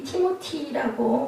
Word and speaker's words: 디모데: 디모데는 티모티라고 원어 발음이 그렇게 되어 있습니다.